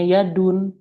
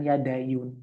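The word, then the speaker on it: يد: Makanya dibacanya Yadun, bukan Yadayun.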